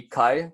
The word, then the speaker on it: kai: Kai is basically short and easy to pronounce. If you guys want to try and pronounce it with me, it's just kai.